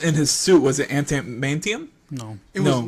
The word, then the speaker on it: Adamantium: This is taking place of how do you pronounce it? Adamantium, Adamantium.